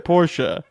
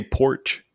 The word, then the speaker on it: Porsche: Porsche is pronounced Porsche. Well, at least I didn't say porch.